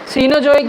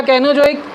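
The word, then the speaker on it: Cenozoic: अब हमें मिला प्रोटीरोजोइक, ठीक है, आर्कियोजोइक, उसके बाद पैलियोजोइक और मेसोजोइक, सीनोजोइक या कैनोजोइक। सीनोजोइक या कैनोजोइक में प्रोनाउंसिएशन का डिफरेंस है, आप को जो अच्छा लगे।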